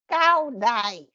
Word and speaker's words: CaoDai: So it's pronounced Daoism, is that right? CaoDai. CaoDai. Caodaism. Cool. And Yeah, and we use CaoDai. We do not use CaoDaism